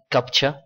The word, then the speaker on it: CAPTCHA: capcha est un rétroacronyme le mot se prononce comme capcha en anglais américain il est censé être